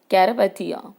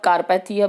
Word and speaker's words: Carpathia: यहाँ पे आप कारपैथिया भी बोल सकते हो, कैरपैथिया भी बोल सकते हो। ठीक है, नाम है दिया हुआ, प्रोनाउंस कर सकते हो आप अपने हिसाब से।